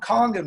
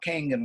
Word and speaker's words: Kangen: base of the waterfall it's called kangen water not King in water a lot of people call it Kingdom wine pronounced that beautiful lady